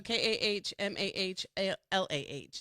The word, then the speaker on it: Kamala: Kamala. Correct. Kamala, right? Kamala? Kamala. I think Kamala? it says Kamala. So KAHMAHLAH is how they have it broken down by syllables.